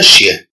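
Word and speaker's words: chien: كونتون برونونس لو مو شيان إسكو نونتون أو أون نونتون با لو صو ياه. إذا عندما ننطق كلمة شيان هل نسمع أو لا نسمع الصوت ياه؟ جنونتون بيان سور اون لونتون. اون لونتون يعني اننا نسمعه. اون لونتون لو صون ياه.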